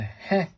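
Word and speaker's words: へ: This is a he again, but this is a he sound pronounced like the he in Helen.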